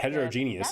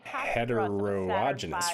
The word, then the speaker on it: heterogeneous: put that into perspective heterogeneous it's not heterogenous right hum to the Moon